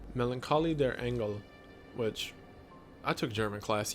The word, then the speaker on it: Melancholie der Engel: Melancholie der Engel, which I took German class, yeah, that's how it's pronounced, which translates to The Melancholy of Angels,